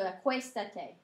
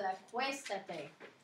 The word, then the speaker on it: acuéstate: And the star at the bottom says you have to accent the third to last syllable. So the te, the ta, and then there's the e. So the acuéstate. That's so you can maintain the original sound of the verb.